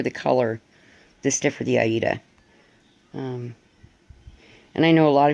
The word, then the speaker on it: Aida: is fluent in Italian so we know that the proper pronunciation is actually Aida but personally I don't